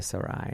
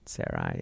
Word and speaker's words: Sarai: I don't know how do you say her name before she got it changed. Yeah, people say Sarai and Sarai. Yeah, I think either one's cool.